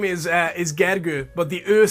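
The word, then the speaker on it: Gergő: Facebook yeah so my actual name is is gagger but the earth sound at the end tends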